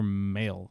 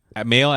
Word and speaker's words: Mahle: Mahle as in like I just got mail, or? Tyler Mahle, right? That's how you say his name.